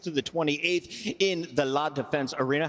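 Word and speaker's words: La Défense: It's going down June 26th to the 28th in the La Defense Arena. How do you say that in French? La Defense. La Defense La Defense Arena.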